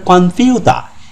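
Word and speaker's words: コンピューター: ব্যবহার করা হয়েছে কম্পিউ কম্পিউটারকে উচ্চারণ কম্পিউটার না বলে বলা কনফিউতা এই কম্পিউটারকে কাতাখানায় ব্যবহার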